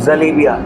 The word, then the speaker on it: जलेबी: इसका नाम है जलेबी, लेकिन राइट प्रोनाउंसिएशन जो शुद्ध भाषा है इसका ये है जलेबिया।